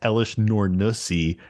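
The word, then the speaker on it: Elesh Norn: it's pronounced Elish Nornusi Oh, Grand God.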